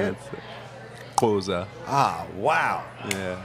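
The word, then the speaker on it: Xhosa: that that one how do you say it Koza ah Wow yeah how long did it take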